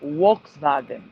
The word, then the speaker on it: Volkswagen: They pronounce it Volkswagen because the V is a W and the W is a V sound.